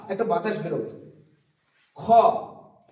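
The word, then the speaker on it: خاء: খ উচ্চারণ হবে কন্ঠনাটির শুরুর দিক থেকে। এটা শুরুর দিক এবং এটা হচ্ছে নিচ দিকটা হচ্ছে শেষ দিক। তো খ উচ্চারণ হবে কন্ঠনাটির শুরুর দিক।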